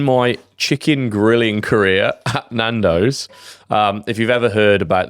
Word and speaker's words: Nando's: No, I said Nando's. Oh, sure. I was saying they were a big multinational company. I thought you meant incognito. I don't think that list. Rhymes with Twandos.